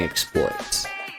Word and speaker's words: exploit: exploit is the verb exploit is the noun so i should be saying exploit i don't know why i put in emphasis on the first part an angel two